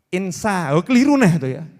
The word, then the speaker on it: insya: gitu loh ngucapnya betul tulisannya insha tapi dia bacanya itu insya itu pakai Insya Allah